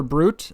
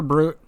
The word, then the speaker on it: Brut: I assume that's how it's pronounced, but it's Carpenter like the job and then B-R-U-T, so it could be Brut. But I just assume that it's, German or something, and it's Brut.